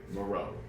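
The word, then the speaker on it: Moreau: how to spell Lou smell spelled like Louis m o r e a u Maro so how many [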